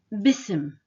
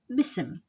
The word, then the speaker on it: بسم: The second word also, it's بسم. بسم. The alif here is silent as well. Ism means name. But when you combine it with B, we don't pronounce the alif, so it becomes bism. Bism.